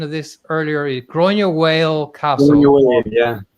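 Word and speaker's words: Granuaile: one of them so you gave me the pronunciation of this earlier gr whale castle Yeah gr whale Castle gra Al yeah she she was a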